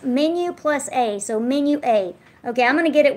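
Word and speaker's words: Menuet: ET is how she spells it and it's pronounced menu plus a so menu eight okay I'm gonna get it one of these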